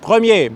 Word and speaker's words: Premier: For those who want to know this, you clearly see the word duograph, and it's pronounced in French premier.